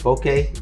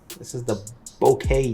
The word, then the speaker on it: bokeh: And if you look at the bokeh, I think it's bokeh, that's how you say it, in the background, that's pretty good for an f4 lens.